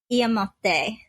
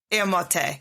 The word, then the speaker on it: Iyémote: again, but pronouncing your indigenous name, is it Iyémote, or how would you pronounce that? Iyémote. Iyémote.